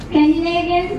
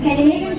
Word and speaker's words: Scandinavian: Please don't pronounce this as Scandinavian, because I've heard quite a lot of people pronounce it as Scandinavian. Not Scandinavian, it's Scandinavian.